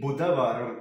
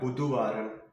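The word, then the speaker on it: Budhavaram: here in wetness day so here it should be buddhavaram not buddhuvaran so here what we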